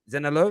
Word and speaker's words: Zaniolo: to pronounce his name right is it uh zena zenna you pronounce it zen hello no i want to hear you now i